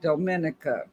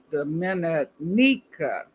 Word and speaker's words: Dominica: I've been pronouncing it the Dominica, but it's Dominica.